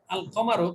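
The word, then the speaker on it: القمر: এখানে লামটা উচ্চারণ হয়েছে, শামসের মধ্যে লাম উচ্চারণ হয়নি, আর শামস, কিন্তু এখানে আল কমারো যুক্ত হওয়াতে উচ্চারণ হলো, তাহলে বোঝা গেল এখানে কফটা হলো হরফে কমারি।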